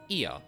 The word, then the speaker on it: Ea: our thoughts and intention ear I believe was the pronunciation used uh when referring to our people uh though it is